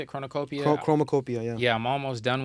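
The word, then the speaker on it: Chromakopia: So, I'm almost done with the Chronocopia. How you say it? Chronocopia? Chromacopia, yeah.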